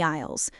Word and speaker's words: aisle: He is walking down the aisles, looking at his shopping list. An 'aisle' is the long passage between the shelves in a supermarket. Note the spelling, listeners! It starts with a silent 'A'—A-I-S-L-E.